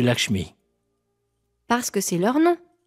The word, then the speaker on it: Lakshmi: Tu appelles Lakshman Lakman et Lakmi au lieu de Lakshmi.